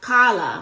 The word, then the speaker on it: Carla: And in PWA, my name is pronounced Kala. My name is Carla. C A R L A. But in PWA, they pronounce it Kala.